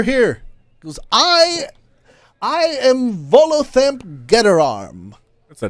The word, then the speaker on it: Volothamp: He goes, I am Volothamp Getterarm. That's a name. God. Okay, spell it, smart guy. VOLOTHAMP.